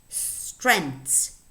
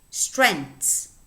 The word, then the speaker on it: strength: pronounce that so so this word would be pronounced strength strength strength okay but this is a difficult word for